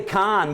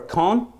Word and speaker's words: Kahn: a greater curiosity yeah I always want to say Khan but everybody's like Oh you mean where they have the film festival uh no they have a slightly different pronunciation that only French people can hear okay all right so I'm gonna take your word for cone cool all right you